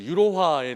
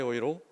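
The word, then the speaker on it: Euro: 때는 로라고 발음하지 않고 독일 사람들이 유로를 읽어내는 방식으로 아이이로 스바이 오이로 더트 오이로 이렇게 발음하고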